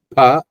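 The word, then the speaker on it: प: The difference between pronunciation of this pa with some native speakers in Hindi, they tend to pronounce that as fa with F sound, but here it is pa, pa. Okay, pa, pa.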